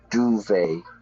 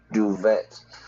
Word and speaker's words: duvet: In winter time, I change my my bed and I have the duvet, not duvet.